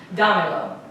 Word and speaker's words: Dámelo: Listen to the sound of my voice, tell me where the tonic syllable is. Where is the emphasis of my voice going? Dámelo. Where is it? No. It's on da, right?